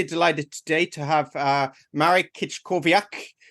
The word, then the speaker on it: Marek Kiczkowiak: today to have uh Marik kit kovak uh how did I do marrick on that one you're pronouncing your name okay perfect perfect it was spot on thank you so it's